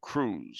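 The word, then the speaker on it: Krewes: groups that are called Crews spelled with a k and yeah and the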